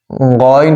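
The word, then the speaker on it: غين: শক্ত ও স্থির থাকা গইন হরফটি মোটা করিয়া চার আলিফ টানিয়া পড়িতে হয় গইন হরফটি মোটা করিয়া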